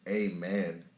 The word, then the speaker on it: Aman: nigga, like that's why my name is Aman, because it's a man. It's Aman, like that's how it's pronounced, but it's spelled Aman, because at the end